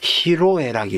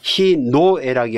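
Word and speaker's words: 희로애락: 원래 he노에락으로 원래 써야 되는게 맞을 터인데 이것도 화름 현상 때문에 히노에락이 아니라 히로 예 그렇게 바뀌어져 있다.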